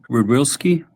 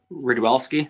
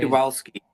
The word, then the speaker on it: Rydwelski: Where'd you put Rudwilski? Am I pronouncing that right? Ridwelski from Naperville. Yeah. I didn't, so that's a Okay. good one. Rouse, where's he at? Ridwelski. Rydwelski.